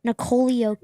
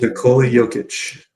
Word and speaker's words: Nikola Jokic: Nikola Jokic. Nikola Jokic.